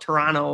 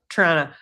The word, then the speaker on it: Toronto: I think a lot of people from Toronto would call it Toronto or Toronto. And they just wanted to just completely eliminate most of the syllables.